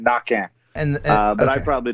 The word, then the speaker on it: Naquin: say it right now Cajun French the Q is a k the N is silent at the end knocking and uh but I